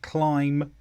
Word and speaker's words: climb: First of all, the letter B after M is usually not pronounced. For example, climb, comb, lamb.